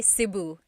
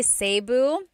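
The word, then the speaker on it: Cebu: it seu or SIU so technically in the Tagalog alphabet the letter e can be pronounced e or e like the letter I so I say SIU SIU and I know some people say seu but usually it's either SIU or sebu good question all right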